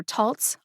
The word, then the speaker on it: Taltz: option because there happens to be a written pronunciation for tolts on toltz's medication guide unfortunately this is one